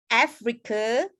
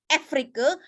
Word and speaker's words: Africa: animal, bukan itu animals, Africa, bukan Afrika, bukan Afrika, itu A. Tapi bukan, kalau A itu adalah Afrika, kalau E adalah Afrika. But this one is Africa.